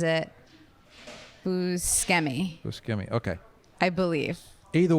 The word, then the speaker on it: Buscemi: call it i say buschemi but i think i'm wrong okay i think that's the italian way to say it is buscemi but i think he pronounces it who's scammy scammy okay i believe